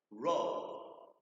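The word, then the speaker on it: roe: raw is fish eggs let's say it together row row almost like roll your boat but we spell it differently roll then our next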